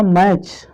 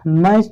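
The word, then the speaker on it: match: और देखिए आपका मैच, मैच तो रोज देखते होगे ना, MATC है। देखिए T के बाद CH है, या आप समझे CH के पहले T है तो ये आपका क्या है, चुप है, साइलेंट है, क्लियर।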